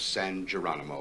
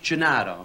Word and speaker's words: Gennaro: York, the Feast of San Geronimo, we salute. San who? San Geronimo. Gennaro. It's pronounced Gennaro, right?